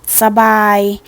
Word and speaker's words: สบู่: เท่า นั้น ค่ะ ค่ะ สบู่ อ่าน ว่า สบู่ คำ ว่า สระ เรา จะ อ่าน ออก เสียง เพียง แค่ ครึ่ง เสียง เท่า นั้น นะ คะ ตลาด อ่าน ว่า ตลาด